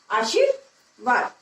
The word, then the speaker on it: आशीर्वाद: तो अब रे को हम वा से पहले बोलेंगे, तो आशीर्वाद, आशीर्वाद, तो हमारा शब्द बन गया आशीर्वाद। तो इसको हम इस प्रकार से बोलेंगे।